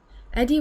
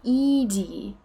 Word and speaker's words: Edie: except our cat molly you have a cat eddie would be pronounced edie eddie is the male one oh ed okay